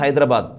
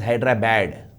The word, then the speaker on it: Hyderabad: in the class you see how do you pronounce hyderabad a telangana it will pronounce hyderabad as hyderabad because it is hyderabad but in Andhra they call it అస్ హైడ్రా బ్యాడ్ హైడ్రా బ్యాడ్ what is this it ఇస్ నాట్